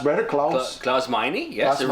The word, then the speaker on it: Klaus Meine: Klaus Meine? Yes, Klaus it rhymes with money. Just remember that. It rhymes with money. Klaus Meine rhymes with money.